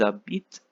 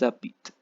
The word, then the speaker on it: habitent: Again, for the il and l last person, you have to stop pronouncing before ENT. Ils habitent, elles habitent.